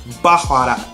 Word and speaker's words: baharat: Now here it's called baharat, but my guide pronounced it a little bit differently. Let's see if I can butcher the Arabic language. She had like a W sound. It was like baharat.